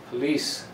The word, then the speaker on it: police: The same thing with this word, police. The second syllable is the strong one.